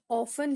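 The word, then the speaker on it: often: ऑफ यानी अक्सर यह ऑफें है ओ एफ टी ई एन है यहां पर टी साइलेंट होता है हम इसे ऑफें पढ़ते हैं आज मौसम अच्छा है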